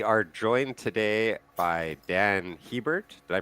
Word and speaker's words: Hiebert: We are joined today by Dan Heert. Did I pronounce that right?